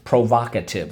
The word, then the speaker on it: provocative: Provocative.